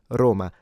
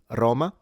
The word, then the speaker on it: Roma: But in modern Italian, it is considered more correct to pronounce it Roma. That is, if you're interested in diction and want to become, say, a voice actor. If you want to pronounce it the other way, Roma, that's fine.